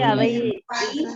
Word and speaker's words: our: Our school ඔය වචනේ OUR හරියට pronounce කරන්න කිව්වා British ක්‍රමයට ආ කියලායි කියන්නේ. our කියලා කියන්නේ our school අපේ පාසල. our school කියලා කියන්නේ OUR pronunciation එක ආ කියලා විතරක් ගන්න.